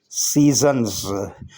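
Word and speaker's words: seasons: हमारा पहला वर्ड है सीजन्स में ए साइलेंट है। एस ई के बाद जो ए है ये साइलेंट है। एस ई होता है सी। और एस ओ एन एस सन्स, एस यहाँ जेड की साउंड दे रहा है।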